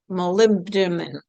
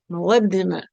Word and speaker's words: molybdenum: One of the trace minerals that rarely gets discussed is I don't even know how to pronounce it. molybdenum moly- moly- b- denum molybdenum um So, that's m o l y b d e n u m.